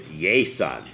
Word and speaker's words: Jason: In Spanish, it's Yason, and it's because the J sound like a Y, and they just, the names don't translate. So I'm still Jason down here, even though they cannot pronounce it.